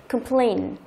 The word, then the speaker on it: complain: Thường trọng âm sẽ rơi vào âm thứ hai, complain. Complain. Từ đó không đọc là complain, nhớ chưa? Đọc là cơm. Âm đầu tiên đọc là cơm, cơm.